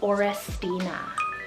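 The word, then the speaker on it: Orestina: It's the name Orrestina. 4 syllables there, O-R-E-S-T-I-N-A, Orrestina.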